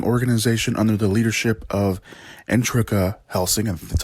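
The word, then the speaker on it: Integra: to the helsing organization under the leadership of entreka helsing and that's how you pronounce her name a great granddaughter of abraham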